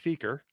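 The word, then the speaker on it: SEQR: does anybody know what seeker stands for and uh i'd really like to know why we pronounce it that way because the cue to me should be a harder sound but what is s-e-q-r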